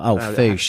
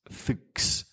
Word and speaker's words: Fuchs: You say, how do you pronounce it, Lee? Fuchs, you meant to now. Foosh is how we've been saying it for eternity.